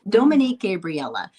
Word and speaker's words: Dominique Gabriella: Sure, it's Dominique Gabriella. Okay. So long A. Dominique Gabriella.